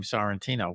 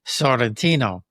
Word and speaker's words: Santino: everything like in Italy I'm embarrassed when I say my name Santino because that's not the way the Italians say it. They say Santino, you know, sounds not